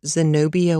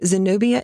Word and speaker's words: Zenobia: So, she's been very foo with me for a long time and is only beginning to thaw a little from her Zenobia ways. Zenobia is spelled Z E N O B I A.